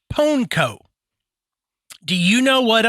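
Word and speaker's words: pwnco: in a ritual called ponco it's p wnco but it is pronounced ponco do you you know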